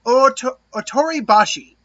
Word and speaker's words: Ōtoribashi: How do we pronounce it? Ōtoribashi.